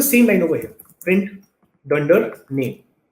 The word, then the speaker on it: dunder name: The way you would pronounce this is you would say dunder name.